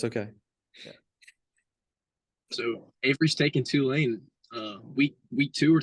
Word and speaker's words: Tulane: game for sure but what is talene two lane there you go I apologize for pronouncing